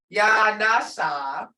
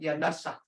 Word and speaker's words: Yanasa: If you said Yanasa. That ain't right, but you gotta do it short and blunt. Yanasa. That's how this word pronouncing comes in. Tones has a lot to do with it.